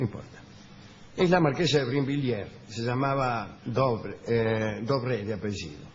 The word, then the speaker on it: Brinvilliers: ¿Quién era la marquesa de Brinville?